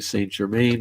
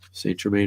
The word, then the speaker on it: Saint Germain: One of his forms is supposedly Saint Germain, or Saint Germain is supposedly one of the forms of Merlin.